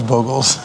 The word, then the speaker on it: Bogles: I actually do call it Boggles, but I know it's Bogles. Right, there's one G.